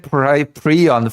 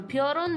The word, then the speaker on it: Piorun: If it's spelled like Piorun. Yeah, how do you get Prion from this? I have no clue. I have no idea how you get Prion from this. There is no R in front of I, and he's saying Prion, right? He's switching the letters. Oh, the way, like the way he pronounces it, it's like peon but with an R, Prion, Preon, I think.